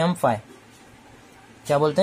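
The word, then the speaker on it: φ: अब ये क्या होता है, इसको बोलते हैं हम फाई। क्या बोलते हैं, फाई। ये स्पेलिंग नहीं है, मैं एक चीज बता रहा हूँ कि फाई समझ में आए जैसे, ठीक है।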